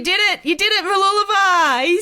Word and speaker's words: Mooloolaba: You did it, Mooloolaba.